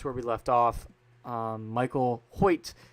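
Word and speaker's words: Hoecht: That's what I'm going to call him that because people want to say his name is Michael Hockett. I've seen so many. It's Michael Hoyt.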